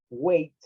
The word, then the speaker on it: weight: O sea, la G y la H no hacen nada, más que estar en la palabra escrita, pero del sonido no tienen nada que ver.